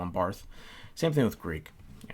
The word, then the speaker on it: Barth: make fun of someone for mispronouncing barth bart as barth just simply because if they say barth that means they read bart and probably read a lot more bart and didn't have someone